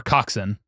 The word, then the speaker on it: coxswain: But there's the eightman, which is a shell with eight rowers and a cockswain or coxin. That's how it's pronounced.